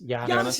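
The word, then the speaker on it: Giannis: you guys say jannis Janis is correct Janis is it jannis is how it's pronounced as far as don't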